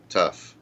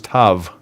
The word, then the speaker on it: Tav: Of the alphabet, which is Taf. T. Oh, that's interesting. I just learned something new. I didn't know it was tough. I thought it was Tav, T-A-V. Okay, it's not. It's it can be Tav.